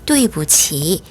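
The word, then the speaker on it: 对不起: 중간에 있는 아니 불자 이번에는 성조가 없어요 경성으로 발음을 합니다 또 이 부지 리브 직 경성으로 발음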